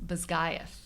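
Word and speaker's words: Basgiath: So they return to uh Bosgath I don't know how we're pronouncing it. The author says Bisgayth that's not how I would have I don't like it but that's what she says.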